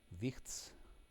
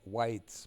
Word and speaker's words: Wicht: Now just collect the loot, and next will be Pitax wine cellar with those wichts. Verle called them whites, but correct pronunciation is wicht, because it's a German word.